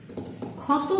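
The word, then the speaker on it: ক্ষত: When it was in the beginning, I was saying khoto, but now I am saying it as O for this.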